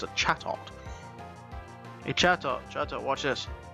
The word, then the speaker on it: Chatot: It's a Chatot.